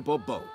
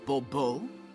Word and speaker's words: Bourbeau: I expect you to address me as Sir, or better yet, as Monsieur de Bourbeau. Fine. Monsieur de Bourbeau. The emphasis falls on the last syllable. Bourbeau?